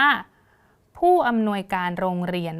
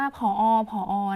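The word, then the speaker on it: ผู้อำนวยการโรงเรียน: ค่ะ นี่ นะ คะ คำ นี้ ก็ คือ อ่าน ว่า ผู้ อำนวย การ โรง เรียน นะ คะ ผู้ อำนวย การ โรง เรียน นะ ปกติ บาง ที เรา อาจ จะ พูด ว่า ผอ นะ คะ แต่ จริง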